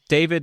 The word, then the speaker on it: Daivid: So David is spelled D AI VI D.